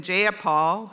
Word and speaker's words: Jayapal: If you're going to say my name, please Jayapal? say it right. It's Jayapal. Jayapal, would you agree with that?